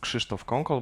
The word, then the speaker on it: Krzysztof Kąkol: My name correctly is pronounced Krzysztof Kąkol, but it's too hard even for artificial intelligence, which is absolutely an ultimate proof that AI does not exist.